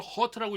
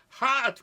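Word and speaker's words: heart: 제가 이걸 허트라고 읽었더니 어떤 분이 그래요. 야, 허트는 상처받았다는 거야. 예, 하트 그래. 하트.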